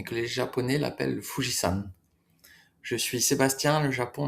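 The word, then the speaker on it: 富士山: les Japonais l'appellent le Fujisan? Je suis Sébastien, le Japon me fascine autant qu'il m'échappe. Alors c'est la même écriture, hein, c'est juste une prononciation différente.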